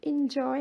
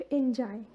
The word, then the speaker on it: enjoy: ये इंजॉय है, नॉट एंजॉय।